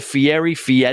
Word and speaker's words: Fieri: I had another name, and Guy Fieri. That's the way I say it. And I'm like, it's not spelled like that at all.